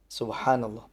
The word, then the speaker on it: Subhanallah: Subhanallah. Pengucapannya benar.